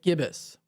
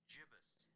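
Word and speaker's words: gibbous: Oh, I'm Is it jibus or is it gibbus? Jibus. I guess it's gibbus. I've been saying waxing gibbus. I've been saying w no waning and waxing gibbus lately. That's what I've been saying. It's jibus. Waxing gibbus, not waxing gibbus.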